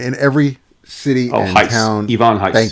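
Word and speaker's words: Ivan Reis: Ivon Heis. Thank you, Yvon Heis.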